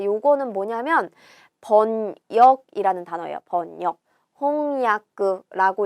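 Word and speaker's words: 翻訳: 홍야크라고 읽어줍니다. 답은 몇 번이죠? 2번이에요. 홍야크. 타금이 들어가지도 않고 야쿠랑 요쿠를 헷갈려서도 안 되는 거죠.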